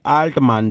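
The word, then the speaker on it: Altmann: पर कि 1890 में अल्टमान, जी हां याद रखिएगा नाम अल्टमैन या फिर आप इसको अल्टमान, बहुत सारे इसके, आप जैसा भी आप इसको प्रोनाउंस करना चाहें वैसा आप इसको प्रोनाउंस कर सकते हैं।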